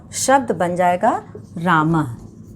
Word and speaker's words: रामः: लोगों ने देखा, और विसर्ग का उच्चारण जो है वो ह की तरह होता है। विसर्ग जो है वो हम लोग देखेंगे, विसर्ग का निशान इस तरह से लगाया जाता है ऐसे करके, और इसका जो है वो ह की तरह इसका उच्चारण होता है, जैसे रामः, रामः, और गजः, गजः, अश्वः।